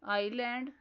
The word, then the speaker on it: island: Words are island, debris, isle. Next silent letter is W.